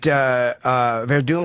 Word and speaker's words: Werdum: Do you think that Werdum, is that how you say his name?